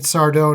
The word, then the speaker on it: Sardo: But, yeah, I believe this is the first time we meet Sardo, no Mr. Accent on the dough.